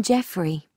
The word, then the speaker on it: Jeffrey: on I'm just looking yes his name's Colin Jeffrey is that spelled with a G actually it's j e double